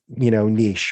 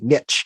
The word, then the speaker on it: niche: specific who, like a very specific, niche, or like the Americans say, niche.